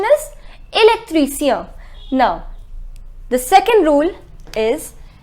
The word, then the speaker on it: électricien: The pronunciation is électricien.